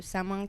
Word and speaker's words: Samhain: Mais bon, là par exemple pour bah l'événement de vendredi, sa main qui d'ailleurs je précise se prononce comme Halloween. OK. Qui s'écrit du coup s a m h a i n si jamais vous voulez nous chercher sur les réseaux sociaux.